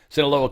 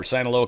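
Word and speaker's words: Sinaloa: Senaloa cartel or Sanoloa cartel is uh Senoloa, I think is probably the proper way to say that.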